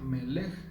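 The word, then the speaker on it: מלך: La M de amén es tomada de otra palabra que en hebreo se pronuncia Melech, que significa rey.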